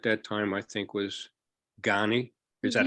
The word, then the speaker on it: Ghani: Afghanistan who at that time I think was ghani is that how you pronounce it yes yes uh well um I